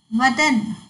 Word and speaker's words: वदन: वदन मतलब मुख, बदन शरीर, व और ब, देखो इसके उच्चारण में भिन्नता है और इसके अर्थ में भी भिन्नता आ गया है। तो इसको बोलते समय वदन और बदन बोलना है।